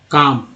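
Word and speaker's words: calm: उसके बाद एल एम जो है, यहाँ एल एम में एल जो है साइलेंट है, और एम का उच्चारण होता है, काम।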